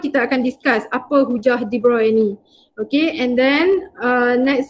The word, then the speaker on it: de Broglie: Dia de Broglie kan, tapi Broglie tu sebutan yang kita rasa nak sebut lah, tapi sebutan dia yang sebenar de Broglie.